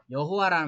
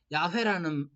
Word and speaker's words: 야훼: 그래서 이제 처음 들어올 때 번역하시던 분들이 여호와라는 말로 번역을 했는데 나중에 이제 공부하고 오신 분들이 보니까 야훼라는 이렇게 발음하는 거야 라고 했는데 그분들이 좀 신학이 좀